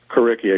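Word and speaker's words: Curriki: do you pronounce it is it kcki kcki exactly Cur r as in curriculum and iki as in Wiki all right and so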